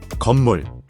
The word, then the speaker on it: 건물: Here's how to pronounce it. 건물, 건, 물, 건물, 건물, Means building, a structure with walls and a roof where people live, work, or store things.